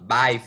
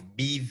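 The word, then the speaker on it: Badb: Baiv, Biv, Bav, né, tem algumas pronúncias diferentes.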